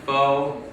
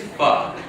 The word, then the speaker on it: pho: And normally, white people like to go to Vietnamese places because they like the idea that they know that it's not pronounced pho, it's pho.